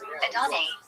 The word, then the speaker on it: Adonai: The correct pronunciation, Adonai.